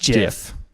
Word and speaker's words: GIF: other arguments mattered because literally in the very first jiff that ever was ever made it literally said it's it's bounced jiff convinced yet convinced yet